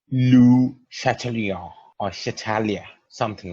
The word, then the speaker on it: Le Chatelier: to actually pronounce it it's actual pronunciation is I will try to do it as close as possible that is Lu Chatelier or satalia something like